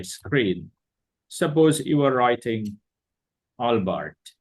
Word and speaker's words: Albert: pronounce it Alber not Albert because this name is not from from English language this name is from French language and my audience may